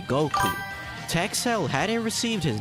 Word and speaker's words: Goku: The numbers five and nine in Japanese are pronounced go and queue respectively, which combined sound like Goku.